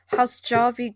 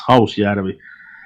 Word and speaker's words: Hausjärvi: So the next one is, please correct me if I'm wrong, Hausjärvi gravel pit murders.